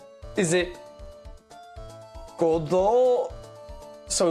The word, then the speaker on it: Godot: Stress that the Godot, silent, okay, well, the silent T I know about, don't worry. Godot, yeah, like even stress, Godot, as opposed to Godot or Godot.